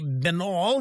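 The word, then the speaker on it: Binnall: seven this is jesse benall jesse benall is on lou dobbs tonight last night he is um or it's vital i'm sorry i got a pronouncer here looks like vinyl he is uh trump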